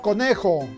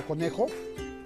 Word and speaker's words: conejo: debemos indicar que la palabra conejo es grave llama o faro ccit o no de acuerdo porque porque la mayor fuerza de voz está en la penúltima sílaba con la que si nosotros decimos con el con la mayor fuerza de voz está en la ciudad van y por lo tanto se trata de una palabra grave o ya no se